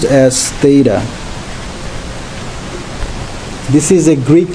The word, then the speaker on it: Theta: I'm writing uh this is uh this is pronounced as Theta this is a Greek letter so I am